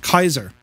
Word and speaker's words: Caesar: yeah yeah yeah uh Caesar should be pronounced Kaiser well depending on where you're from we have a senate